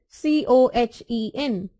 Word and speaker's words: Cohen: H is silent, Cohen.